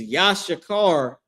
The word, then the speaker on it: Issachar: The tribe of Issachar is Yashakar in the Hebrew.